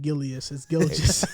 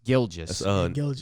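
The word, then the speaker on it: Gilgeous: of swag said right but you said gillian how do you say it gil just gilges nicholas cousin shea gilges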